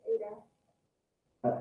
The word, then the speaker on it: eta: Google says it's Ada. How do you spell it? ETA? Yes. ETA. That sounds right. That rings a bell. ETA, Greek letter. Yeah. Thanks, Morgan.